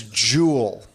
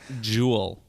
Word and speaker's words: Juul: I think that's yeah that's Jewel you got to put more emphasis on the second you not Jewel sing not repeat that one